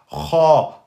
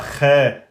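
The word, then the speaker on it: خ: Donc, nous allons dire Kha, Kho, Khi, et non pas Khe, Khou, Khi.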